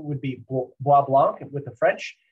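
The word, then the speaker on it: Bois Blanc: it's it appears as if it would be boys blank island my understanding is the proper pronunciation would be wa-blanc with the french it's white bark because there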